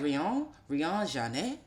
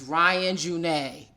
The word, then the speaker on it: Ryan Junet: Because when you read it, you're like, Rion Janet, oh, Mm-hmm. cool, ooh, wee, right? And he's like, nah, nigga, it's Ryan Junet.